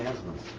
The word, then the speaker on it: Asmus: I don't know how to pronounce it. Frozen. Huh? Frozen. No. Paying Asmus.